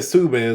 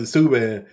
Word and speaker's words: Subban: Cause I guess he's saying Subban, so we're gonna pronounce it Subban, but PK Subban, I watched his reaction video.